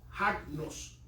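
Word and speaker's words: ἁγνός: Agnos, Con H. que es libre de impureza. ¿Cómo se escribe, papá? Asno, con así, H-A-G-N-O-S, agnos.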